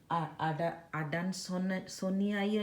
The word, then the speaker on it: Adansonii: Both are called, I believe, Swiss cheese plant, but another one is Monstera Adansonii, I believe. Double I they pronounce Sonii, EI kind of pronunciation, Adansonii.